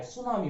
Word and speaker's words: tsunami: लेकिन real spelling देखने जाएंगे तो उसमें इसकी स्पेलिंग हो जाती है TSUNAMI, सुनामी हो जाता है।